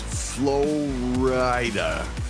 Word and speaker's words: Flo Rida: They're like, "Steve, his name is Flo Rida. It's spelled Florida."